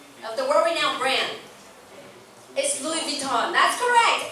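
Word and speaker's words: Louis Vuitton: What's the French pronunciation of the brand？ Of the world-renowned brand, it's Louis Vuitton.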